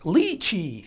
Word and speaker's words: lychee: It's pronounced lychee.